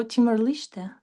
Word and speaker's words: Timor-Leste: Actually, yeah, I was pronouncing always Leste, but maybe it's Liste. I have checked it before the live. It written like Liste because it's Liste. Portugal word Mm. or something like this.